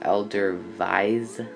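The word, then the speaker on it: Edelweiss: the elderly's airbus a330 if you live in Switzerland it is pronounced elder vies I believe the W's are there V's last I checked this is just a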